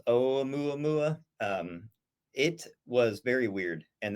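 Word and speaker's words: ʻOumuamua: Yeah, so Oumuamua, I believe it's actually pronounced Oumuamua.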